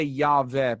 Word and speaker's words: Yahweh: So when you hear me say it, I say Yahweh because I'm convinced that is the proper way that Hebrew speakers would have pronounced it.